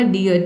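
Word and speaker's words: dear: हम क्या पढ़ेंगे, ई, और आर साइलेंट है, क्यों, क्योंकि आर से पहले ई वावल आया है इसलिए। ये हो गया आपका डियर, डियर मतलब होता है हिरन।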